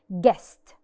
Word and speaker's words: guest: not pronounce the U let's take an example guest guest guest Ji then the e s t guest we did not pronounce the uh sound you we did